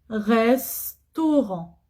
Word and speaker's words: restaurant: Oui, c'est vrai, il y a une voyelle avant le S. E, c'est une voyelle. Mais après, il y a T. Il n'y a pas de voyelle. Alors c'est bon, je peux prononcer S. Restaurant.